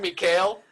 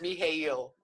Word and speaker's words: Mikhail: his name it's like it looks like michael but it's me hayle did you sit there